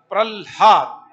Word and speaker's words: प्रह्लाद: प्रह्लाद, पहले ह, पहले ल का उच्चारण बाद में ह का उच्चारण।